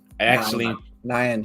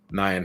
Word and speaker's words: Nyan: Nyan Heroes. Nyan Heroes. Well, I'm sorry, but it's a Y, and a Y gets pronounced as an E, and it's like English.